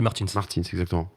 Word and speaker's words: Martins: merci pour le samedi la prononciation de Martine il a pris la corrigé RTBF exactement auprès de notre compresse d'origine portugaise on dit Martins F2 sur ce week-end